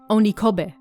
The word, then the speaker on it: Onikobe: written with the kanji for onihid and pronounced onicobe a wide basin spread